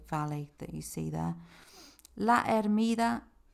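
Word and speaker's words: La Hermida: that you see there laida the H is silent in Spain in Spanish at the beginning of the words so laa Gorge or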